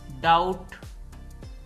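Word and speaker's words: doubt: wise वरना certainly यकीनन डाउट दोस्तों यह ल डाउट है इसमें भी साइलेंट है डाउट शक डेट इसमें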